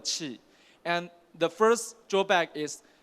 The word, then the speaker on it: Qi: We call that this standard we call that is a QI you can pronounce like a chi and the first drawback is they have very short charging distance.